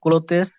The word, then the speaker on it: clothes: How are the clothes washed? clothes, এটা উচ্চারণ Clothes.